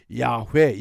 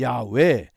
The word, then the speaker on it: 야훼: 이 히브리 사람들은 하나님의 이름이 성경에 등장하면 그 이름을 발음을 못합니다. 처음에는 그 이름이 나오면 침묵하고서 그 다음 단어를 읽어야 했습니다. 그러다가 아도나이라고 하는 발음으로 아도나이 나의 주라는 뜻인데 하나님의 이름이 등장하는구나, 그렇게 암시를 했습니다. 그것이 이 발음 부호가 붙어서 야훼 야훼 우리가 이렇게 발음하게 된 겁니다.